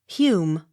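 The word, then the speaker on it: Home: o r d harford h o m e hume h u g h e s hughes j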